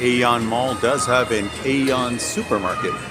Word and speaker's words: AEON: I'm inside the AEON, pronounced Aeon Mall.